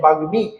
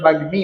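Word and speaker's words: বাগ্মী: এর সাথে যুক্ত থাকে তাহলে সেই ম এর উচ্চারণ হয় যেমন দেখেন এখানে গ ফলার সাথে বাগ্মি এর উচ্চারণ হওয়া উচিত ছিল বাগি বাগি উচ্চারণ হওয়া ছিল না কিন্তু এখানে উচ্চারণ বাগ্মি ম এর উচ্চারণ হয়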